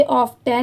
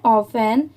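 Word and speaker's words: often: Who, read regularly, ऑफन, इसे ऑफ्टन नहीं पढ़ेंगे, इसकी प्रोनाउंसिएशन है ऑफन, show greater emotional, IN TEL tell, LI ली और GENCE जेंस।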